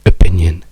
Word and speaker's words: opinion: La stessa cosa per cui quando la parola in italiano direste opinion, in inglese no, le due O diventano schwa, quindi diciamo opinion, perché la sillaba accentata è P, quindi è quella che ha bisogno di importanza, le altre in inglese